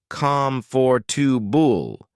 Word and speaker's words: comfortable: For instance, write calm for two bull instead of comfortable to remind yourself of the correct pronunciation.